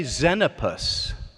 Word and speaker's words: Xenopus: memorizing, and they were learning how to say Xenopus. It's spelled with an X.